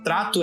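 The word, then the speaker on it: Tratto: Então, Trato é T-R-A-T-T-O. É Trato como, né, de trato, só que com 2 T's na segunda sílaba.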